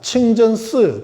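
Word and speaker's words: 清真寺: 이슬람 사원인지 모르는 사람들 볼 때는 한자로도 청진사, 칭전스, 중국 발음, 청진사, 풀을 청자, 참진자, 절사자 딱 쓰니까 여기가 불교 사찰이구나, 절이구나 하고 딱 들어가서 보면 부처님은 안 보여.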